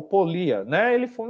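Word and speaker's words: Pólya: chamado George polya né outras pessoas também é pronuncia o nome dele de polia né Ele viveu entre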